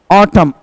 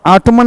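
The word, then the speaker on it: autumn: Winter season जाड़ा ऋतु को, summer season गर्मी ऋतु को, रेनी सीजन बरसात ऋतु को, ऑटम, ऑटमन नहीं बोलोगे, एम के बाद एन आता है, एन साइलेंट हो जाता, ऑटम, ऑटम सीजन पतझड़ ऋतु, and spring season Basant Ritu.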